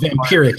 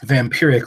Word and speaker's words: Vampyrrhic: 2016 was vampiric but it's spelled funny it's not just vampiric like of vampires it's vampiric like pic Victory yes it's immediately Whenever